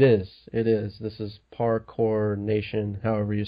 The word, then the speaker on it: parkour: how you say it so the r is not silent or anything weird like that no parkour I mean the thing